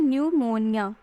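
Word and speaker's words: pneumonia: जो है वो है निमोनिया ठीक सेकंड है हमारी क्या निमोनिया लेकिन निमोनिया जो है वो पी से स्टार्ट है तो इसमें पी है साइलेंट और बाकी है पीएनबी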